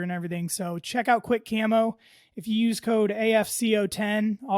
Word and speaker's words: Quik Camo: It is Quick Camo. Check those guys out over on Instagram or go to their website. It's spelled QUIK Camo.